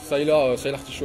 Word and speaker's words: Sylar Show: Comment on prononce en vrai? Sylar Show.